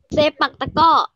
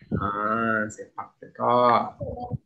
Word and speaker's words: sepak takraw: Sepak takraw. Sepak takraw.